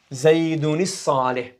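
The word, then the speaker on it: زَيْدٌ الصَّالِحُ: So how do you pronounce it? Zaydun as-salih.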